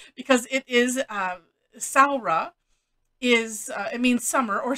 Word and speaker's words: Samhradh: this um and so she helped with the pronunciation because it is uh sarah is it means summer or summer time in